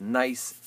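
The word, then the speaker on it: gneiss: is nice it's pronounced nice as a silent G at the beginning of it there you go okay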